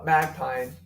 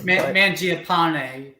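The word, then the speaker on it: Mangiapane: uh mag Pine or I know it's not how you pronounce his name Mangia pane meningiapane I always say Magpie for whatever reason I think I get lazy when I try to say it yeah measure upon it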